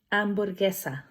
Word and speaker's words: hamburguesa: Hamburguesa. Obviously, hamburger, another cognate. And you'd probably notice that I did not pronounce the letter H because the letter H is silent in Spanish.